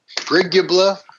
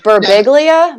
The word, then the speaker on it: Birbiglia: Brigubla, something. The guy who wrote Sleepwalking. Oh, yeah. I can't pronounce it.